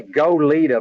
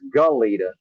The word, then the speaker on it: Goleta: just like like uh Goleta which I say go leader because I can't really some words I just can't pronounce properly in my accident it's Goleta it's hard for me to say Goleta the